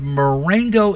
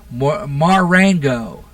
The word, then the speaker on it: Marengo: This is out of Marengo, Illinois. Where is that? Marengo. Marengo? Is that how it's pronounced?